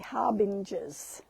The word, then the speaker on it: harbingers: Ah, you think it's a soft G. Okay, harbingers.